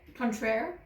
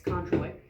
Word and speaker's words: Cointreau: is not what I have, but you were pronouncing it Contraire. and I was pronouncing it Cointreau, and then we looked it up and we were both wrong. It's Cointreau.